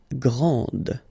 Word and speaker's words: grand: exactly the same thing this final is not pronounced okay so GR and